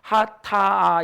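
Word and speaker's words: חטא: 그래서 오른쪽에서부터 하타 이렇게 돼요. 하타. 근데 이 히브리어는 모든 글자들마다 의미를 가지고 있어요. 맨 첫 글자가 헷, 두 번째가 텟, 그 다음에 세 번째가 알렙인데, 그래서 하타 이렇게 발음이 되어지는 건데, 저 첫 번째 글자는 뭐 같습니까?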